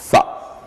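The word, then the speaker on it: ث: nous avions dit que pour le prononcer, il faut mettre la langue entre les dents et faire comme si on devrait dire en français ça. Comme ça, on va dire Tha.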